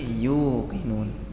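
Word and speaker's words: يُوقِنُونَ: Hukman yinun bukan yuk tapi yukinun. Saya contohkan dari hukman ya. Amati lamnya cepat. Hukman liquumi yuqinun. Hukmumi yinun bukan yuk tapi yu dipanjangkan hukm jangan lama-lama hukm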